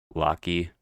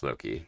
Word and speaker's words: Loki: I say Loki. Supposed to be like, yeah, lock and key. I think is what it's supposed to be pronounced.